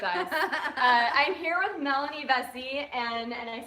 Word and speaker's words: Vesey: I'm here with Melanie Vesey, and I said it right this time.